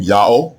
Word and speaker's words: Yah: first century BCE that the proper name of the god of the Hebrews is pronounced ya exactly in agreement with